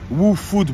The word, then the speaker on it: Wu Food: WooFood Mouvement, comme ça se prononce, le WooFood. Donc Wu-Tang Clan, vous connaissez.